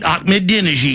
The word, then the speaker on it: Ahmadinejad: Or is it too much fun to hate Ahmadinejad because he doesn't look like you?